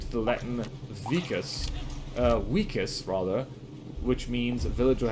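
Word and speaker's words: vicus: The Latin vus uh wikus rather which means Village or habitation fun fact if you see a v in Latin it's pronounced like a w so uh Julius Caesar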